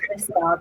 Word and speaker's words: Liskeard: Thank you very much, Liskeard.